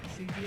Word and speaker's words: Sujia: So we got Sujia, am I pronouncing that correctly? Yes. Makes sense. Sujia and Klaatu.